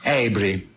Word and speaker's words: Avery: sobre un pirata enamorado es John abry se escribe abery había nacido este amigo